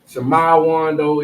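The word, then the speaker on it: שמעון: Shamawando is the correct pronunciation.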